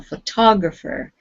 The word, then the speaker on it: photographer: remember jade photographer good so photographer second second syllable good all right let's